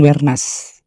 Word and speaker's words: Wernas: Di desa Kelurahan Wernas.